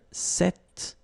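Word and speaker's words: cette: it's quite interesting because if you listen carefully the masculine form here set and The Feminine form here set you write them differently but then you pronounce them the same way all right for the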